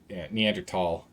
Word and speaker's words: Neanderthal: The thing is, Neanderthals, there's a reason why you can find, or I guess, Neanderthal, as it's supposed to be pronounced.